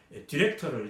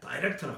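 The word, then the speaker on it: director: 짧게 발음 이렇게 뭐 예를 들어서 한국말로 다이렉터 하면은 이제 그 뭐 어떤 감독하는 사람, 뭐 어떤 대표 있는 사람을 이제 디렉터를 이제 다이렉터라고 합니다. 다이렉터. 이 미국 말은 디렉터예요.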